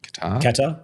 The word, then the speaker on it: Qatar: Is that how I pronounce it? Qatar, yep.